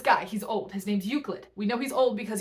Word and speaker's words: Euclid: a short one um look at this word and tell me how you think it's pronounced you're probably wrong it's pronounced uid I Googled it um this is a